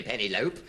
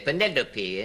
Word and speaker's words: Penelope: You don't say pennylope. All the Greek derivatives sound their final e. You say penelopey and epitome and syndrome.